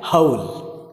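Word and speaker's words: whole: डब्ल्यू एच ओ एल ई, देखिए एक ये आपका डब्ल्यू ओ एच एल ई, यहाँ पे डब्ल्यू जो है वो साइलेंट है और यहाँ पर देखें एच ओ एल ई भी, यानी इन दोनों का सेम प्रोनाउंस।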